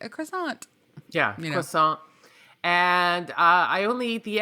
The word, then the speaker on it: croissant: Yeah, so what I like to do is I like to get a croissant. Do we pronounce the T? A croissant?